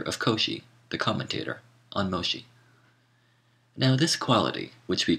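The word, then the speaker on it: Mōshi: volume 1 MOSI footnote Moshi the Japanese pronunciation of the name of the Chinese philosopher meni whom Europeans call menus end of footnote says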